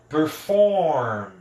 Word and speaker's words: performed: ganhar o ED, e este ED vai ser pronunciado só como D. Então fica performed, performed. Ó, do M eu vou direto pro D. Performed, performed. Então, os verbos que terminam com M, depois dele, se tiver um ED, eu não pronuncio o E, né? Eu pronuncio apenas o D, alright?